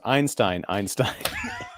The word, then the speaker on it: Einstein: It's pronounced Einstein.